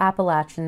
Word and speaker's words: Appalachia: eastern foothills of the Appalachian Mountains. I pronounce it Appalachia. It's just where I'm from.